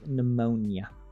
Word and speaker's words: pneumonia: The pneumonia. Pneumonia. I like how I'm commenting on your language having a weird H sound, and then like we have freaking pneumonia with a P that is silent.